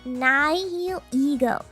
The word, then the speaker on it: Nihilego: It's shiny Nihilego. Yeah, I had to Google how to pronounce it. It's Nihilego.